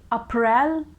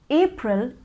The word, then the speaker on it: April: you pronounce it well april is the correct pronunciation there are two syllables in this word first one is a and the second one is pril so it is april